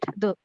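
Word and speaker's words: deux: have to pronounce like though so you say do right like the pronunciation of if you listen to a proper French accent it's do only do it's not I didn't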